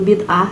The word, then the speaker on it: bid'ah: Bid'ah, itu bacanya bid'ah. Ah, bukan bida ya.